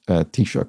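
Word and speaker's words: Taoiseach: in this case and yes pronounced tishok i'm sure i'm not saying that perfectly but it's better pronunciation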